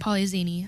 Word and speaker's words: Polyxeni: Because I think Polyzini. I've seen X's in names and it was pronounced with like a Z. Polyzini.